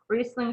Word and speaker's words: Riesling: in the case of riesling it's r-i-e um we might imagine that we we silence the first vowel and we pronounce the second so the reason it's